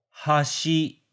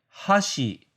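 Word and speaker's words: はし: In Kanto, hashi is chopstick and hashi is bridge or edge. In Kansai, hashi is chopstick, hashi is bridge, and hashi is edge.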